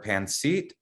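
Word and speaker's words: pancit: but i might up the pronunciation of one of these uh adobo or pansit is that how you say it good yeah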